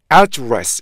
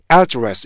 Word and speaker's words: address: 그런데 이게 명사로 사용되면 앞에 강세가 붙어요. 그럼 보세요. address 이렇게 되겠죠. 그죠? address 이렇게요.